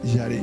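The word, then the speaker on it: ירא: es una palabra que en hebreo significa yarece pronuncia yaré nosotros acá en la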